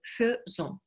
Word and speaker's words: faisons: И сочетание аи в первом лице множественного числа читается как э, faisons. Это исключение, нужно запомнить.